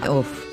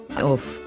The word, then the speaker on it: עוף: So, we have an O sound, plus the F sound of the Fe sofit. So we say Off. Off.